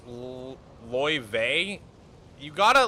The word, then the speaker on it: Laie: Laie is pronounced Ly.